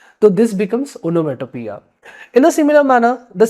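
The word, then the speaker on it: onomatopoeia: this figure of speech is not called as onya it is called as onomia letter O is silent here I can understand anyways you will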